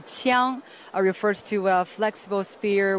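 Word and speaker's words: 枪: In Chinese, it's pronounced the qiang, refers to a flexible spear with the red horsehair attached to the spearhead.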